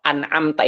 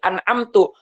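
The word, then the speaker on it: أنعمت: engkaunya itu kepada Allah anamta itu yang telah engkau berikan Anugerah tapi kita dibaca Dom anamtuaiim maka berubah artinya yang seharusnya yang telah engkau Wahai Allah berikan Anugerah tapi berubah artinya menjadi anamtu yang telah aku berikan Anugerah Nah itu salah begitu salah artinya berubah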